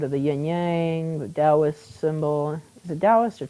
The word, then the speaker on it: Taoist: Get rid of the yin yang, the Taoist symbol. Is it Taoist or Taoist? It's Taoist.